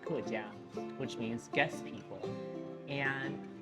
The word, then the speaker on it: 客家: Now, the interesting thing about the Hakkas is Hakka, written in Chinese characters in Mandarin, is pronounced kejia, which means guest people.